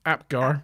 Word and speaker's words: Apgar: I had to remember how to pronounce his surname then for a minute. Yeah, they've completed their analysis Akbar, of. but it's not. It's Apgar. Akbar. Apgar. Yeah, I'll probably keep saying Akbar.